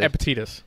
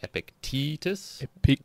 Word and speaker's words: Epictetus: looked at this uh i was like epitidus yeah uh i was listening to a guy and he was emphasizing more of the e so it was like epictetus so but you still pronounced with the i'm pretty sure that's how it sounds epic yeah okay so